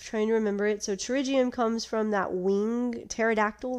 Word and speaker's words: pterygium: another condition called pterygium it also starts with the p but it's not pronounced it's pronounced pterygium and the pterygium is